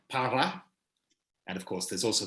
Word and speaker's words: para: Of course, if you don't pronounce the R, and a lot of Chileans don't pronounce the R in those words, they say por and pa instead of por and para.